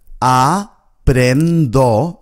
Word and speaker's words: aprendo: If you find this word difficult, just break it up into syllables. Aprendo. Then join the first two syllables together. Apren. Apren. And finally join the third syllable.